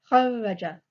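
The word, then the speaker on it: kharraja: shadda on the r, I have kharaja. I have to pronounce that r twice.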